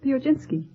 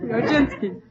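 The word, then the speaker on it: Piechocinski: Uh, uh, how do you pronounce your name? The Ojinski.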